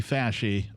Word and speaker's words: Fauci: still trust this guy people no it's anthony faschi that's the correct pronunciation he has said everything once he's backtracked